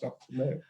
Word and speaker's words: Gno: So he was spelled GNO, but it's pronounced Dr. No.